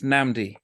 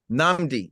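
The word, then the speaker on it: Nnamdi: your name uh so I know the double end it's namdi namdi yes yes my parents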